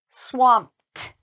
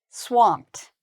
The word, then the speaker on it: swamped: Even though it's ED, in this word, we pronounce the ED like a T sound. So I would say swamped, swamped.